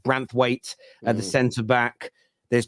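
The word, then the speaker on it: Branthwaite: likes of uh branth I think pronounced branth weight at the center back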